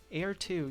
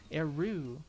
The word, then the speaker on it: Eru: Eru. Okay, that makes... Eru. Yeah, that makes way more sense than Air 2.